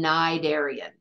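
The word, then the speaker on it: Cnidarian: in the be that there's a c at the beginning of that word we don't pronounce the C it's not a narian just plain narian now nidian they're invertebrates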